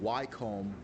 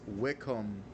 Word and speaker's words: Wycombe: wanted to make that correction because I've been pronouncing it wome all this time and that is not the correct pronunciation it is Wickham FC that's the team that I'm taking uh